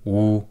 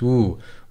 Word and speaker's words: و: Ana, I am, wu, and. So here it's pronounced wu.